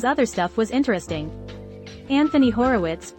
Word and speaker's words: Horowitz: some of his other stuff was interesting anthony horowitz pronounced horovich and terry pratchett i was going to say